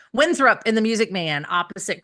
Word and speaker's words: Winthrop: He plays um you know he does win is it Winthorp? I always thought it was Winthrop. Winthrup. Okay. Then I always say it wrong. Winthrup in the Music Man opposite Christian Chennowith at the Hollywood Bowl.